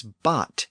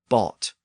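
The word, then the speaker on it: bāt: It was bot in Old English, spelled B-A-T. But around this time, it was probably pronounced as bought, on its way to modern boat.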